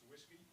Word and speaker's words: WSGI: Yeah, so the question is, do I pronounce WSGI as whiskey? The answer is yes, I do.